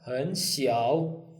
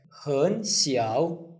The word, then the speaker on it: 很小: 很小, although it's written third tone, but when we pronounce it, it's second, third.